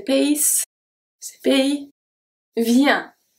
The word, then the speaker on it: vient: Vient. Vient. Vient. The T is silent.